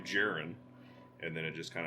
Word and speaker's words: Jaren: I believe it's Finnish, and it's pronounced Jaren in the motherland.